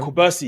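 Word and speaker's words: Cubarsí: Kubarsi, yeah.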